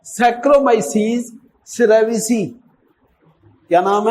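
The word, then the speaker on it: cerevisiae: अब याद करने का तरीका देखो, सैक्रोमाइसीस सिरिविसी। और सिरी को तो जानते ना, सिरी देवी वो इंडियन थी, वो तो बहुत हो गई बेचारी। सिरिविसी, सैक्रोमाइसीस सिरिविसी। लेकिन प्रोनाउंसिएशन सुनो, क्या है? Saccharomyces सेरेविसी।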